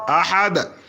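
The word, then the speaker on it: أحد: বিসমিল্লাহির রাহমানির রাহিম আল্লাহু আহাদ আহাদ আহাদ দালকে কলকালা উচ্চারণ করবেন আহাদ আল্লাহু আহাদ আল্লাহুস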